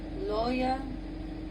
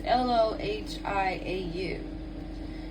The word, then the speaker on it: Lohiau: Is it Loya? It's Lohiau.